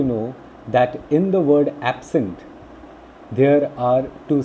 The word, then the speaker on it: absent: Now you can see under the heading noun, I have written a word absent. There are two syllables in absent. When absent is used as a noun, ab and sent. Okay, see the stress mark just before A. there is a stress mark to it.